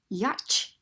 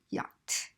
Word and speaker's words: yacht: spelling is Shh and we wouldn't say Yauch we would say yacht because there would be